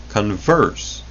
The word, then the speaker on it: converse: will still find when the word converse, accented on the first syllable instead of the second, is used to mean the opposite side of something, as the converse of a coin.